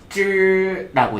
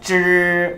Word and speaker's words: 只: 쯔라고 얘기를 합니다. 발 달린 동물같이 생겼잖아요. 그쵸? 같이 한번 읽어볼게요. 쯔 발음 시작.